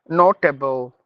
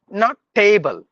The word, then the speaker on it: notable: comfort table veggie table notable no not table it's tble like comfortable vegetable notable suitable